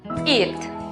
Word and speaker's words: eat: En la palabra comer, por ejemplo, notamos que la vocal E con la vocal A están juntas en la misma sílaba. Por lo tanto, la pronunciación correcta es eat.